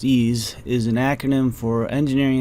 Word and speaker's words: EES: EES, which is pronounced ease, is an acronym for Engineering Equation Solver. The previous video in this section described how we can use ease to create and run a parametric table.